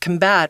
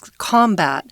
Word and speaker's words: combat: combating this word is combat is a really fun word because if you say it as a noun it's combat but when it's a verb it's combat the accent goes on on the second syllable and that means to